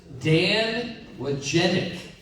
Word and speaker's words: Dan Wojcicki: His name is, and I've seen his name spelled, but it doesn't sound like it's spelled at all. Or it doesn't, you don't pronounce it. It's Dan Wojcicki.